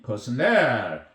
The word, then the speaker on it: personnel: 발음을 유의해야 됩니다. 이 personnel은 액센트가 끝에 있습니다. personnel 인력이라는 뜻입니다. 인사과를 Department of Personnel이라고 하거든요. 그러나 사람의 person의 형용사형은 personal AL 붙이면 형용사형이 되거든요. 이러면 개인적인, 사적인 이런 뜻이 됩니다. 이거하고 다릅니다. 이때는 액센트가 맨 앞에 있어요. 발음에 유의해야 됩니다.